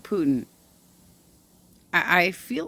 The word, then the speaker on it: Putin: or am i like is it supposed to be pronounced like puddin pudding chocolate pudding or is it putin i i feel like